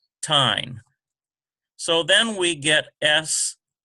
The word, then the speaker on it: Sheen: So then we get S-H-E-E-N. Sheen, it's softer because you got the H sound in there, so it's much softer.